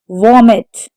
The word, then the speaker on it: vomited: Vomited. The stress is on the first syllable.